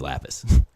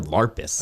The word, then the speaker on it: Lapis: I think he mispronounced Lapis. I think he said Larpis. I think he did. He got it completely wrong.